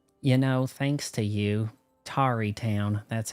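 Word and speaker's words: Tarrey Town: You know, thanks to you, Tari Town, that's how it's pronounced, is doing real good.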